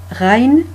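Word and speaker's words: غ: Rain, c'est le même graphique que Ain, mais il a un point en haut. Donc, du coup, ça change la prononciation. C'est bien un G grasseyé.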